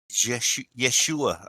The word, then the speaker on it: Yeshua: Or Yeshua, as it would have been pronounced in Aramaic.